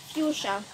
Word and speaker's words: fuchsia: Fuchsia. Fuchsia. Fuchsia. Fuchsia. Yes. Fuchsia. F-U-S. It, as you say, it's pronounced as you say.